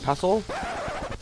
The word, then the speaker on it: pestle: It has a T, but it's pronounced Mortar pestle.